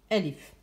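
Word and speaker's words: ألف: l ihf et sur le web elle se prononce elif à je vais faire un cours détaillé de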